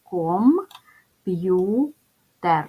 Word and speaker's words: комп'ютер: склади ділимо на склади ком п'ютер ставимо наголос комп'ютер наголос паде на другий склад позначаємо приголосні звуки перший